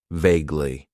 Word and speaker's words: vaguely: It has two syllables and the stress is on that first syllable. Vaguely.